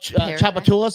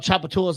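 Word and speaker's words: Tchoupitoulas: So there's a street called Chapatulus in New Orleans. I'm Listen, there's a street called Chapatulas in New Orleans. It's spelled TCH.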